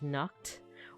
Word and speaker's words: Nacht: It represents the KH sound, which occurs in Hebrew and Arabic, and the German pronunciation of Nacht, or the Scottish pronunciation of Loch, a voiceless velar fricative.